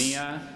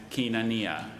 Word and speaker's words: koinonia: Are there any alternate pronunciations? How are they ever There's supposed to do this? Koinonia and kinania.